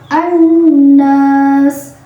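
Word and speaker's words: النَّاس: syamsiyah yaitu nun, dan cara membacanya alif lamnya tidak dibaca, jadi kita langsung membaca ke huruf syamsiyahnya yaitu nun.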